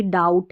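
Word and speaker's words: doubt: अब इसको भी जब भी बी टी साथ में रहता है ना ऐसे बी और टी आखिर में तो बी साइलेंट रहता है। टी को पढ़ते हैं। तो ये भी डाउट है।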